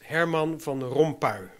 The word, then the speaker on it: Herman van Rompuy: First of all, the pronunciation of the new President of the Council, that is Herman van Rompuy.